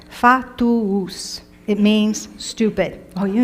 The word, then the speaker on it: fatuus: This one has 3 syllables. Fatuus.